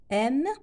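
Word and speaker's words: aiment: aime قلنا لا تنطق ENT chantant ONS ينطق chantant. aime ما نقولش aimant لا ينطق le ENT هذا لا ينطق.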